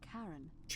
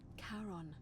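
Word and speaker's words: Charon: It's just as you described it, only your pronunciation is a little off. The name you heard wasn't Karen. It was C H A. Yeah, I know. I figured that out. As in Karon, the fairyman of the dead.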